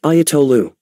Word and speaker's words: Ayatollah: The term is pronounced Ayatollah.